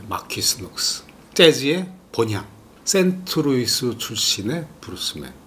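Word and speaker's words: Marquise Knox: 발음하기가 우리가 좀 힘들어요. 마퀴스 녹스라고 하는데, 마퀴스 녹스.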